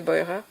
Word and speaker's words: Beurer: Euh al je sais pas si on dit Burer en français mais je pense qu'elle doit se prononcer Boyer.